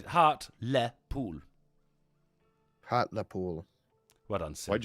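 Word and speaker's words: Hartlepool: to my larger monitor Hardy pool yeah no heart Le pool it's heart Le pool heart Le pool what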